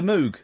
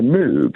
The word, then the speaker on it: Moog: it would be a moog because it's hang I I think we mean of course a Moog. I Let's get the pronunciation correct.